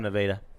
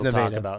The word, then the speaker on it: Nevada: slip up on that is it nevada it isn't it's because i've heard it all across wrestling okay yeah there's nevada yeah but it's spell it's obviously spelled like nevada so a lot of people will be like nevada yeah i just heard